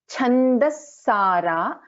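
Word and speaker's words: छन्दःसारा: Next one, Chandasara. So actually, see, if you see, Cha is a Mahaprana, and then we have Chandaha Sara, but we will be pronouncing this as Chandasara, Shastrasara, Shastrasara, Mantrasara, Talodari, Mantrasara, Talodari.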